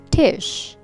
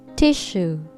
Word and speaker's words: tissue: good tissue tissue not tish but tissue two syllable word okay repeat after me